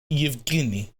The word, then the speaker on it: Yevgeny: G as in ghetto. Yevgeny. Yevgeny. Don't make it nasal. Yevgeny. Yevgeny. Yevgeny. That's how you say it, lol. You are pronouncing it way too Italian-y. Yevgeny.